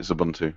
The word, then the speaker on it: Xubuntu: It's spelled with an X, but you pronounce it Xubuntu.